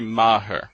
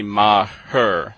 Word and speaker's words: Maher: Actually, it's Maher, kind of like the comedian Bill Maher. And so I've been mispronouncing Bill's last name as well, incorrectly. Well, actually, this gets complicated already, but, okay, Bill Maher, it's Bill Maher, as in M-A-R-R. And with my name, it is Maher, so you actually say 2 syllables. But I'm much closer to Bill Maher than I am to Mayer, so.